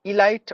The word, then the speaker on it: elite: develop diabetes diabetes not Elite or Elite it should be elite like i l e e t Elite that's how we have to pronounce Elite entrepreneur entrepreneur entrepreneur that's